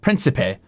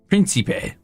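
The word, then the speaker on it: prinsipe: Pronounce that for me. Oh, that's Prince. Principe. Principe.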